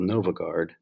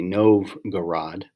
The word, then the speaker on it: Novgorod: and establish a capital in a place called novogard excuse me novgorod and really start to solidify who the roofs